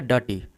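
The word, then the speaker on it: dirty: अब यहां पे देखिए ये जो आर है डर्टी में आर यहां पे आपका साइलेंट रहता है। हम आर का प्रोनाउंस नहीं करते हैं। इसे बोलेंगे डर्टी। डर्टी नहीं बोलेंगे इसे डर्टी।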